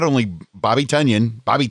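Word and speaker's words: Tonyan: Even though we want to say Tunyon, it looks like Tunyon, but he does pronounce it Tunyon.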